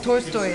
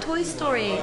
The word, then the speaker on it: Tolstoy: I like, no, Tolstoy. And she's like, oh, Toy Story. You know, you say Toy Story. I was like, no, Tolstoy. And she's like, no, no, no, that's not how you say it. It's Toy Story. Like, T-O-L-S-T-O-I, Tolstoy. Tolstoy.